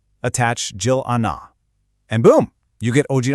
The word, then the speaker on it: 질 않아: That L sound at the end of 칠, the R consonant, it actually links over to the next vowel. So instead of saying 질 않아, it all flows together smoothly into 질 않아.